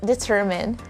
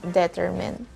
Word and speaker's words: determine: second one is determine it goes up on the second syllable the correct answer is determine again determine and not determine number eight this word